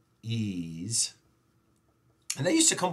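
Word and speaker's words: EES: Engineering Equation Solver called ease see hahaha it's pronounced ease and they used to come with a lot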